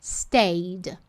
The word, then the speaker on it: stayed: Mas aí vem técnica // e te mostra qual que é a pronúncia correta, que é uma questão de ser pronúncia correta. Stayed, stayed. A gente não pronuncia esse E.